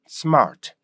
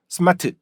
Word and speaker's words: smart: 말 못해 왜 그러냐면 스마트 이거는 영어식으로 읽는게 아니거든요 예 그래서 스마트 이렇게